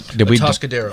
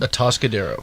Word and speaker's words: Atascadero: Was that? Atascadero. That's what we decided. That's how you pronounce it. Atascadero.